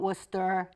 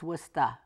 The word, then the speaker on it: Worcester: you'll have to understand that it really is pronounced worcesta it's not Worcester it's wusta and what I'm here for is to let